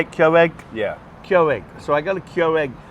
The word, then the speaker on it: Keurig: Keurig.